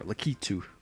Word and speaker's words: Lakitu: from uh i'm gonna choose uh why not lackatu or lakitu is it you know that's the right pronunciation apparently uh i did say last time